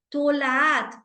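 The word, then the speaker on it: תולעת: en el Tanakh, dice tolaat. Y es interesante porque él le aumenta esta letra de tab al final, ¿no? No dice tola, sino dice tolaat.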